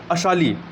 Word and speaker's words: Assal: और लेक टाना जो है और लेक अब्या, स्पेलिंग क्या हो जाएगी? ABAYA, अब्या, और लेक अशाली, असाल है, ASSAL, अशाल।